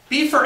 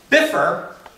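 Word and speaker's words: Bifur: uh did it uh now beefer and bofer right no biffer and buffer now who would have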